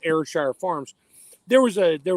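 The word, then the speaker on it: Ayrshire: a side note the other cow you mentioned airshire that's how you pronounce it airshire I had a customer for the company I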